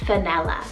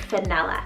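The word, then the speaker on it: Fenella: had to add the name vanilla spelt f-e-n-e-l-l-a vanilla so this name means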